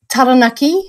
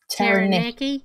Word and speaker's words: Taranaki: Taranaki, when you say it correctly, or if you say it with a really bad Kiwi Pākehā accent, Taranaki.